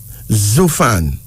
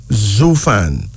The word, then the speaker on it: Zufan: Zufan. Zufan.